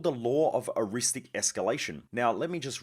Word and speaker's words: eristic: aware of and it's called The Law of aristic escalation now let me just read out how to spell it so that if you do look it